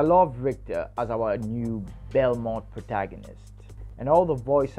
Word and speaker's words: Belmont: Or Belmont in Creole, the T is silent.